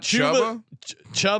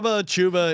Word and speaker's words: Chubba: Brock Purdy's younger brother, Chuba Purdy. Chuba Purdy. Yeah, former Nebraska Cornhusker. So how do you get the name Chuba? I don't know. Not Chuba. Chuba.